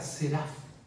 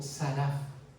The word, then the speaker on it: seraf: interesante sera fines eso viene de la palabra hebrea seraf o saraf de las dos maneras se pronuncia el el hebreo más contemporáneo creo que es saraf pero en el antiguo es seraf y de ahí viene